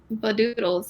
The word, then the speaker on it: Vadooodles: And so I was like, doodles rhymes with noodles. And then I just put a VA in front of it because. And so I put Vadooodles, and that's what it became.